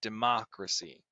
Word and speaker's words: democracy: Here we have the second syllable in democracy being the stressed as well. We have democracy, right? It's a little bit sharper, that syllable in the middle there.